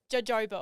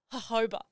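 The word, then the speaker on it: jojoba: is spelled j OJ o ba a so Joba oil yep but it's pronounced hoba it makes no sense no sense I have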